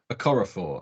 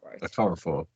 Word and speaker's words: Okorafor: I think it's Okorafor, I think is how you pronounce. Yes. Certainly the surname. Chukwumi Okorafor.